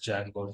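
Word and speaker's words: Django: there's a framework called Jango framework okay correct we have a framework called Jango framework D is silent you have to pronounce it as Jango Jango framework is used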